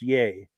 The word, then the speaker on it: Yea: once a month and um okay they're in yay Victoria it's pronounced yay cool deal and then his friend Terry also